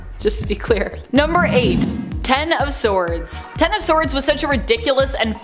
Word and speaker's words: X of Swords: it kind of was X of Swords pronounced ten of swords in relation to the tarot card is a mutant event